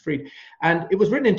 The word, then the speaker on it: Fried: I think it's spelt Fried, but I think it's spelled pronounced Fried.